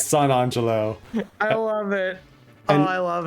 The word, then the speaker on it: San Angelo: Or, as my buddy Matt pronounces it, San Angelo. He does. No matter how many times I correct him, it's San Angelo.